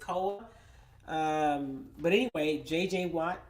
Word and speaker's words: Koa: how to pronounce it it's KOA so it's Cola um but anyway JJ